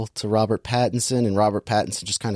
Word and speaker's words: Pattinson: now you got all the the ends robert pattinson there you go it feels the same he